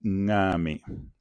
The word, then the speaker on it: ngame: En fait, le N nasal, on le prononce du fond, en fait. C'est-à-dire, c'est la prononciation nasale. La prononciation va être nasale. On dit ngame, ngame.